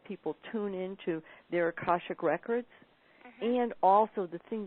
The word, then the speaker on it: akashic: well how do you say that again akashic akashic okay and lots of people have trouble pronouncing that still uh definitely definitely in the